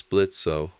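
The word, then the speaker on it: Blitzø: my job the name's blitzo the O is silent isaku blinks what oh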